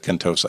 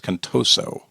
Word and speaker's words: Contoso: I said Contosa. It's Contoso.